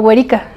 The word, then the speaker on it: Weri: muy original y este y pues me llamo güerica y se escribe así w e r y Mateo Mateo